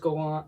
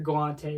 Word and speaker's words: Galante: been watching like Forrest Gallant will be on Joe Rogan, and then he also does his own shit, or Galante is actually pronounced his name.